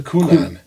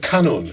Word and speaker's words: kanun: What is a kunan? That sounds like a fruit you get at the grocery store. How do you say it? Wait a minute. How do you say it? Kanun.